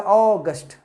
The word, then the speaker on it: august: So इसका मतलब है कि अगर आप भव्य के रूप में इसको अगर उच्चारण करना चाहते हैं तो इसका उच्चारण हो जाएगा ऑगस्ट.